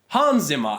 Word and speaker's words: Hans Zimmer: you hear that here just say hands him up you did hands hands Hans Zimmer and like the music